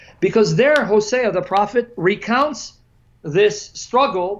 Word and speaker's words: Hosea: but let me read hosai Hosea some pronounce it hosiah 12 verses 2 to